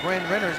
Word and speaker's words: Bryn Renner: That was a terrible job of me pronouncing Bryn Renner's name. I kind of combined it for Brenner, but it's Bryn Renner.